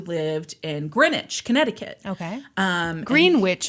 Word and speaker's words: Greenwich: Greenwich is how they pronounce it.